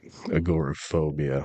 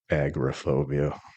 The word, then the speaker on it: agoraphobia: had this thing but pronouncing words the wrong way like agor phobia I call it agobia in one of my videos but I'm going to